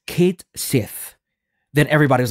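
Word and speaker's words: Cait Sith: Square enx posted on their Twitter that it's pronounced Kate Sith then everybody was like what it's caty because it's a Celtic gelic name I guess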